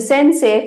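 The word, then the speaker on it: 先生: e Sensei e but we don't say Sensei e it's sensei so the spelling you will be having it as s say along with E ending but the original pronunciation will be Sensei say if you have e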